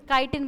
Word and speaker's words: chitin: अरे बस, काइटिन बोलते हैं, काइटिन याद रखो। तुमको चिटिन से याद रखना है, तुम चिटिन से याद रखो, तुमको स्पेलिंग याद रहनी चाहिए।